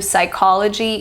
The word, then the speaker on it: psychology: initial PN in pneumonia the p is silent similar to psychology and pseudo science and we also have